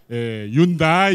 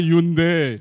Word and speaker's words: Hyundai: la signification de Hunde Hundai Hund la prononciation exacte c'est Hund c'est Hund et ça veut dire